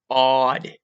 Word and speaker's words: Gad: a table for Gab can only properly be pronounced with phonetics as odd or odd because a carries a ah or ah sound never carried ah never primary meaning of the